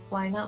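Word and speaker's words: Wynaut: to you as well i didn't realize uh why not was the next pokemon and or that's how you pronounce it so when you said it i thought you were saying like why not like starting a sentence oh yeah uh i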